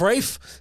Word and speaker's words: Ralph: super fun right uh Rafe finds um that's how I'm gonna that's how I'm gonna pronounce his name now I'm Ralph I'm gonna call him Reef because it's funnier off Rafe he's he's a phenomenal